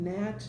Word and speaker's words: gnat: Silent G's start all of those words, gnome, gnat, gnocchi.